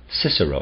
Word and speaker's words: Cicero: dialects in their empire we can call Cicero Cicero s i s e r o because in the Middle Ages it was still pronounced like that we can't speak of